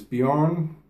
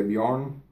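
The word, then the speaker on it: Björn: myself as I said my name is bejor in German you pronounce it but I guess in in English you might say Bjorn h uh I live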